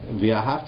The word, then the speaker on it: V'ahavta: V'ahavta l'reacha kamocha." Right, has a v sound, so you could say that's like a vase, right?